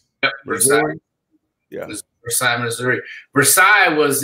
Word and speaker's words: Versailles: 307 North Van Buren Street, Versailles. V-E-R-S-A-I-L-L-E-S. Yep, Versailles.